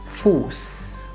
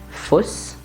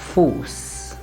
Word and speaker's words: Fuß: And for this one, it will be Fuß. It will not be Fuss, it will be Fuß. So that's it about words with an Sset. Remember, the vowel before the Sset is always going to be a long vowel.